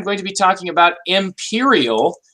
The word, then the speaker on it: Empyreal: to be talking about, Imperial. This is spelled EMPYREAL.